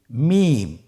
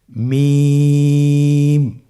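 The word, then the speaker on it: ميم: মিম। মিম হরফটি উচ্চারণের ক্ষেত্রে অবশ্যই বারিক হবে, পাতলা হবে এবং তিন আলিফ টেনে উচ্চারণ করতে হবে। আমার সাথে আরেকবার চেষ্টা করুন। মিম আবার বলুন মিম হরফটির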